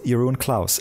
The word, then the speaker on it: Jeroen Claus: here and this is your Owen Klaus is that is that the right pronunciation of your name yeah that's much better than the English do it here see ya I'm